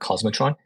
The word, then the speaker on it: k0smotron: new project out called cosmotron it's spelled keratron but we call it cosmotron and utilizing cluster API